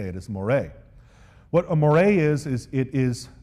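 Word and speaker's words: moiré: The next concept I want you to understand is what's called a moire. Now I know that word looks like more, M-O-I-R-E, but it's actually pronounced moire.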